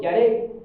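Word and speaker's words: ירא: amén gloria a Dios la palabra temor se pronuncia en hebreo yare que significa algo que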